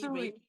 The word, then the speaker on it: Usui: And she's a Yushi, and if am I mispronouncing that, please forgive me. Usui.